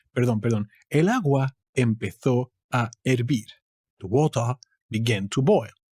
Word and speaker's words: hervir: Moving on to hervir. And as you can see, again, the H is a fake character. It's never pronounced. It's just in the way.